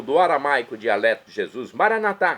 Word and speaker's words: maranatá: E agora eu clamo do aramaico dialeto de Jesus, maranatá, como dizemos nós católicos, ou maranata, como dizem nossos irmãos separados, os evangélicos ou protestantes.